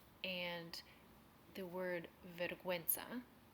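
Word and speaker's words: vergüenza: silent and the word verguenza which the U is pronounced more of like a w sound when it has the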